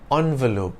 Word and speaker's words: envelope: envelope do note that the word envelope can also be pronounced as envelope to make the grade